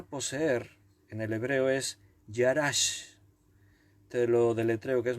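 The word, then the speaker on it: יָרַשׁ: poseer la palabra poseer en el hebreo es y harás te lo deletreo que es más complicada y a r con acento s h y harás poseer significa adueñarse apoderarse conquistar ocupar hasta cuando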